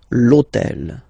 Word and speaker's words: hôtel: purpose this hôtel, okay, because it starts with H, but remember that in French we don't pronounce H, okay, so basically the first sound of the word is the vowel O, okay, so for the same reason, needs to disappear.